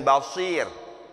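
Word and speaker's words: بصير: yang membawa kabar gembira Yuk Kita bedakan Basyir dengan Basir betul Berarti ada dua di sini Yang kalau kita tidak teliti membacanya akan akan kedengarannya sama Basyir basyirun kedua basirun ini Sin ini Shad Basyir ini dari kata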